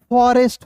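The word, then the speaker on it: forest: आर का हो जाएगा दोस्तों र इ एस टी है तो दुनिया के किसी भी वर्ड्स के अंतिम में ई एस टी रहेगा तो उसका उच्चारण एस्ट के रूप में करते हैं। तो एस्ट के रूप में हो जाएगा। तो क्या हो जाएगा दोस्तों? फॉरेस्ट हो जाएगा।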